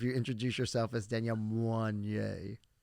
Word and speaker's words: Moinet: You would sound so bougie if you introduce yourself as Danielle Moinet. Moinet, get it right.